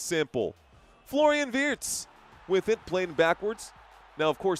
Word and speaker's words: Wirtz: Florian Wirtz with it, playing backwards. Now, of course, the actual German way to pronounce it would be Wirtz, but your English commentators would say Wirtz.